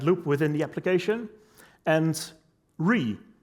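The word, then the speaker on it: Wry: The Tau component, which builds the application window and handles the event loop within the application, and Re, which is apparently how you pronounce that, which does the web view rendering.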